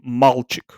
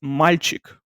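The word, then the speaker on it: мальчик: This L is pronounced soft, so it's not. Oftentimes, you will see Anglo or Germanic speaking people trying to pronounce Russian words. They will say malchik, something like that, or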